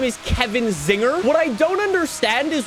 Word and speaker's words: Czinger: his name is Kevin Zinger what I don't understand is why the C is silent in the name just because I can